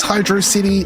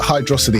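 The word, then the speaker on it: Hydrocity: Is this Hydro City or is it Hydroity? How would you pronounce this?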